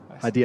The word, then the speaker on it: Haidy: Haidy, I say it right, eh?